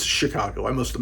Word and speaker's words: Chicago: he's like a detective in the city of shakago Illinois Chicago it's Chicago I must have mispronounced it I know anyway he's a modern